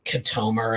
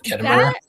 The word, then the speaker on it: Ketomer: Like, because there were a couple of moments where somebody pronounced something a little differently, like Katomer instead of Ketomer.